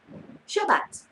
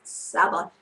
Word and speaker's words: Shabbat: Shabbat, and some people call it the Sabbath, but when I studied in Israel, I was told that this is how they pronounce it.